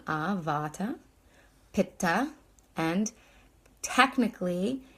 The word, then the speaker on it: Vata: Veda ah your Veda and then Vata so it's a long Vata Pitta and technically it's